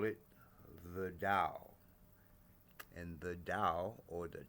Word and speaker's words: Tao: with a T, but it should be a sound like a T with a D. Tao, Tao.